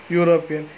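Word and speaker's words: European: वाई you, pronunciation में वाई यू आता है, इसलिए यूनिवर्सिटी के एंड यूनिवर्सिटी नहीं बोलते हैं। यूरोपियन, यूरोपियन की वाई यू साउंड आते हैं।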